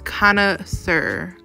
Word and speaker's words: connoisseur: It's connoisseur. Connoisseur is the word. That's how you pronounce it.